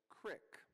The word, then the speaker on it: CRIC: These questions have led to the creation of the Curriculum Review Research Committee, whose acronym, because you always have to have an acronym, is pronounced CRIC.